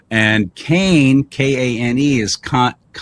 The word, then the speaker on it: Kane: So Lonnie, Lani, should be Lanai, because most of the vowels are always the long vowels. I. If it's I, you pronounce it I. And Kane, Kane, is Kani.